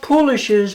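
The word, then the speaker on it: poolish: Now, I've talked about polishes before. Polish rhymes with foolish and uh here we go.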